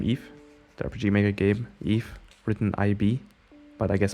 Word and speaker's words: Ib: Like, I really love Eve, the game Eve, the RPG Maker game Eve, written IB, but I guess pronounced Eve, like VE, because it has like this art gallery stuff where you can just look at artwork.